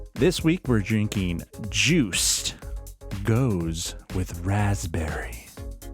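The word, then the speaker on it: Gose: Yeah, I am very stoked for a goes with raspberry. They misspelled goose. Yeah, There's one O. it's a long O though, so it's pronounced goes.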